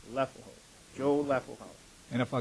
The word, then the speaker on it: Leffelholz: And that is pronounced? Leffelholz. Leffelholz.